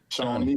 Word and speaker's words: Shawnee: Am I saying it right? Shawnee. Yeah, because my boy Pat Cobb, who played. You got put that W in there.